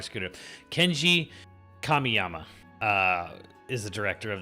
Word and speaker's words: Kamiyama: name um um by Kenji Kamia Kamya kamiyama sorry I said I didn't want to screwed up but I already screwed up Kenji kamiyama uh is the director